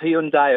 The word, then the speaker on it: Hyundai: 360 M range Hyundai of course he says Hyundai he's American that's what he's American they call